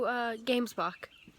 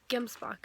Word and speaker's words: gemsbok: And we saw a few gamesbok, or gemsbok, I think is how you pronounce it.